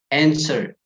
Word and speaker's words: answer: students just wrote equation answer answer silent w guys you know do not pronounce the w please just don't answer